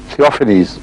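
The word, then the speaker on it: Theophanes: تھیوفینیس اس کا تلفظ ہوگا.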